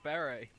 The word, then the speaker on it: beret: and I took the beret. Oh, good war stories, man. I took the beret. That's the correct pronunciation, bitch. Beret. Correct.